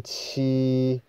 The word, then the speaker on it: 七: 再来就是七，我们七就把它念成中平声，把它念蓝一点，就是七七，不要念太高，也不要念太低，就七念